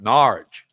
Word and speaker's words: Norwich: If you want to hear my 20-minute rant about David Icke live in Norwich, you got to say it like that, Norwich, because I talk like that down there in Norwich.